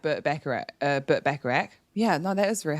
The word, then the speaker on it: Burt Bacharach: i it's because i like burt becker uh burt bacharach yeah no that was very hard um and